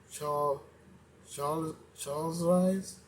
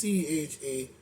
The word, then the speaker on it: Charlize: Her name is Charles Arise Torin or Siren or whatever her name is, Sparks Anger. I think it's Charles Rise. How she say her name? Childs or whatever. It's Charlize.